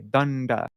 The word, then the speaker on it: daṇḍa: And so the long syllable, we elongate that when we pronounce it. We say danda.